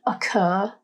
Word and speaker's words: occur: In the word occur, there are 2 syllables, The stress or emphasis is placed on the final syllable, It's a harder, more dominant sound.